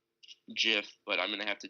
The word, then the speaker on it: GIF: words it stands for the founder or the person who came up with the whole idea itself and said that it was jiff but I'm gonna have